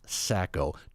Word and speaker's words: Sacco: 2 syllables, Sacco. 2 C's.